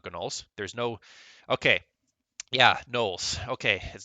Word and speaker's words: Gnolls: There's no, okay, yeah, Knolls. Okay, they're not Gnolls anymore. It's the Null. The G is silent.